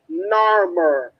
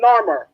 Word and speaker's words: Narmer: myrrh together it spells narmer no one is sure on the pronunciation because the egyptians did not have a a systematic way of us knowing how